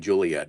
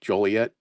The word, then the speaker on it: Joliet: It's probably Joliet. I said Juliet, huh? Joliet.